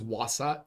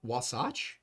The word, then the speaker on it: Wasatch: And they they have It's Wasach Wasace. It's either Wasach or Wasace.